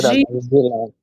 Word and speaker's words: жила: The stress is on a. Да, жила.